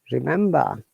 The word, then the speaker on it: remember: Remember, look, in remember, we are pronouncing R, but at the end there is another R we are not pronouncing.